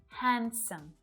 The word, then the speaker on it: handsome: Sandwich, Wednesday, handsome.